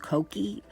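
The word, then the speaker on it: Kokie: uh the brand is I think it's pronounced koki k-o-k-i-e I had somebody in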